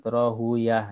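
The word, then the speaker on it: Rahawayh: Ya seperti yang lain juga Rohaweh. Ya, kalau para ahli hadis biasanya menyebut Rohuyah ya, Ishaq bin Rohuyah.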